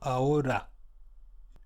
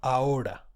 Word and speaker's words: ahora: If it goes in middle position, it is read as ere. For example, ahora. It's not rolled, it's single, ahora.